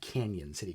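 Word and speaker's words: Cañon City: Colorado actually I think it's I think it's pronounced Canyon City Colorado um which interesting enough not that far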